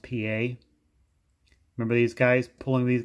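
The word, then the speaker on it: Pié: uniform another one is felix pa looks like pie but it's pronounced pa remember these guys pulling these guys out of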